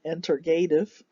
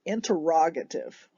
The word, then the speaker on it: interrogative: questions they interrogate interrogative it almost looks like it should be pronounced interreg rig it right regulative interrogate entertain interrogative but interrogative where did you go